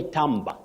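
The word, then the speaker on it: timbre: of Elder you say tber when you talk about that quality of sound tber not timber timber is for wood tber with b r e you say tber tber not Timber then your second word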